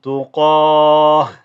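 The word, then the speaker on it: تقاة: form, okay, again here, you change that ta into a ha. Okay, so again, minhum tuqah.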